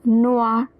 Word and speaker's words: noir: Un grand homme habillé en noir o i is pronounced as wah, so noir.